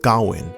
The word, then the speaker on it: Gawain: the journey of the young knight gawain or gowin as the film chooses to pronounce it in the movie as